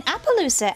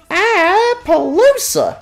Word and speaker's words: Appaloosa: We start off in Appaloosa. No, Rosie, you're saying it wrong. It's Appaloosa!